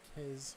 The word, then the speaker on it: Kez: Kez rhymes with Pez.